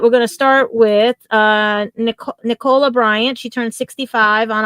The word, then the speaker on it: Nicola: And just in case for people out there, and I'm not trying to correct you, Gadget, but she pronounces it Nicola.